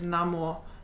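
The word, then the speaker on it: 南无: this is Mo, but it's only read as Namo in context of the Buddhist chant.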